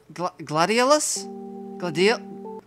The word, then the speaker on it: gladiolus: These are a type of flower called gladiolus?